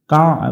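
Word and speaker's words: كعبة: জিহাতিল তাড়াতাড়ি হবে জিহাতিল কাবা বাতিশ এখানে আইনটা গলা চিপে উচ্চারণ করব কাবা বাতিশ বলা যাবে না কাবা বাতিশ বাতিশ কাবা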